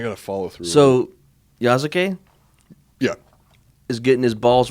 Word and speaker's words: Yasuke: I think that's how it's pronounced. It's pronounced Yasuke.